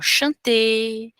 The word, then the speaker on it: chanter: Então, em vez de falar chanter, aimer, parler, manger, a gente não vai falar, não pronuncia.